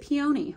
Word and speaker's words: peony: That looks kind of like a peony. Cute. Although some people pronounce it peony. I guess it just depends on where you're from.